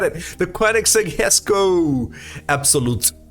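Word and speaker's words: Jesko: The Koenigsegg Hesko. Absolute. Yeah, that's how you say Hesko.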